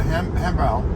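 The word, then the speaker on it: 汉堡: has never tried a hambao or hamburger. And in Chinese language, it's pronounced hambao, very close.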